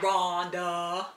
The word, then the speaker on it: Rhonda: I have a silent H in my name. Yeah, Rhonda.